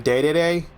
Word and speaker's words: Dedede: Yep, it's a Savage Dedede, or as he's called in Japan, Dedede. But I called him Dedede. I've always heard his name pronounced Dedede, so I will continue to call him Dedede.